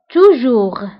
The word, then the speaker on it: toujours: ونتبهوا بالنسبة toujours ou jamais, فكنكتبوهم بS آخر الكلمة ولكنها لا تنطق. Toujours, jamais. مشكل هو un problème.